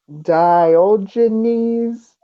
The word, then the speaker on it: Diogenes: And then the order is sending also someone named Diogenes. Hey, you pronounced it right.